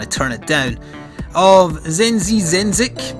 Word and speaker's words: Zenzizenzic: turn it down of zenzi zenic I think is how you would pronounce it by bit huffle and